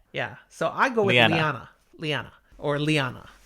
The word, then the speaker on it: Leane: I mean, it's spelled in pronunciation guide with an EH, so it's an eh. Yeah, so I go with Liana.